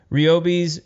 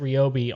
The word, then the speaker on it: Ryobi: we we know that these guys are going out of their way to pronounce it ryobi on all of these like look at our new products so ryobi it is yeah it's like an